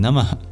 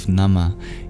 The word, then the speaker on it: Namah: The H in Namah, it flows very easily into the sibilant, the palatal sibilant sh of Shivaya. So imagine breathing out at the end of Namah into Shiva.